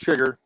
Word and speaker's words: Chiger: Chiger. Right, yeah, Chiger, CH. You know, we're The algorithm saying Chiger. might cancel us after this, but Yeah. I said Chiger. Yeah, It's definitely pronounced Chigger, but it's Chiger.